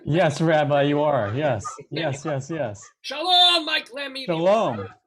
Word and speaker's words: Lemme: By the way, am I pronouncing that right? Is it? Yes, Rabbi, you are. Yes, Lemme.